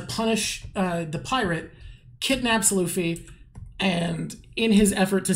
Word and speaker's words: Luffy: how stupid is it how do you pronounce is it Luffy Luffy Luffy yeah Luffy where he says Luffy is probably the biggest idiot there.